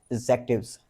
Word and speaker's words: adjective: पीछे कारण है कि यह एक साइलेंट लेटर है। और साइलेंट लेटर क्या होता है? किसी भी वर्ड में अगर साइलेंट लेटर है इसका मतलब क्या है? कि वह प्रोनाउंस नहीं किया जाएगा। हम उसे स्पेल करेंगे। हम उसे लिखेंगे लेकिन बोलेंगे नहीं। For example A डी जे